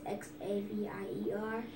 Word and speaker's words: Xavier: and safer with that Xavier with an X so you have to pronounce the X Xavier Xavier